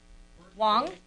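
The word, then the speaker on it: Hoang: your first name is h o a n g Wong and that's how you pronounce it perfect and what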